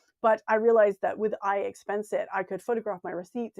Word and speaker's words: iXpenseIt: So I use an app called iExpensit. It's spelled really strangely. IXPENSEIT. So it's like expense it without the E in front of the expense.